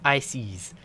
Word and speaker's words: Ises: Pharaoh Ises, pronounced Ices.